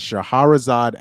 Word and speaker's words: Shahrazad: It's Shahrazad. Yes, Shahrazad Ali is how you pronounce it.